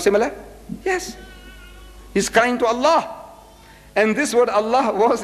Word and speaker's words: Allah: Hebrew is L or alternatively spelled as Allah a l a h so the only exception I took